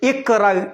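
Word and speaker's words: اقرأ: തുടക്കത്തിലാണെങ്കിൽ ഉച്ചാരണം ഉണ്ടാവും. ഇനി അതിലേക്ക് ഒന്നുകൂടി നോക്കി. നമ്മൾ എന്തുകൊണ്ട് ഇഖ്റ എന്ന് പറയണേ?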